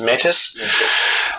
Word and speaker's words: metis: pronouncing it right, but it's M-E with a little thing over it, T-I-S in Greek. I think it's metis.